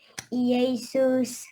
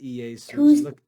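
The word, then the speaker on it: eius: cheat says Mater mother yesus no not ease no not a Jesus be careful read each syllable How do you read that yes two syllables him or his of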